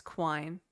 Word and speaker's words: quine: I was like, how do you pronounce the is it the word? Is it quine? [cough and clears throat] Like a program that returns itself? Yeah, it's quine.